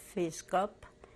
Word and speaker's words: Fiszgop: EF: My name is Fiszgop-- pronounced in Polish-- Fiszgop.